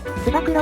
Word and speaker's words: つば九郎: つば九郎って読むよ。